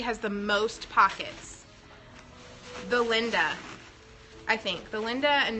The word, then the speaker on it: Linda: Linda a lot because it's spelled like Linda, but really it's pronounced. If you're a true BLB fan, you will know that it's pronounced Linda, like L-E-E-N-D-A, but you can call it Linda too.